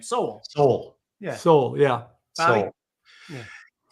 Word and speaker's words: Sowell: I never know how to pronounce his name. Sowell.